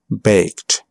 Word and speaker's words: baked: But a lot of time, the E is not pronounced. Looked. Asked. Played. Baked.